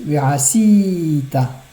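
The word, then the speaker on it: וְעָשִׂיתָ: Et ensuite, verasita. C'est un mot qui est mil'ail. Donc on ralentira sur le sin.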